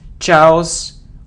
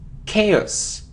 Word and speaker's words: chaos: a occasion occasion so it isn't Charles or house or cows it's chaos chaos it isn't develop its